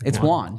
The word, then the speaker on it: won: So it's Juan, just like Juan.